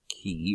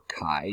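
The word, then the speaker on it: χ: represent it with the Greek letter key or Kai depending on how you pronounce it and this one's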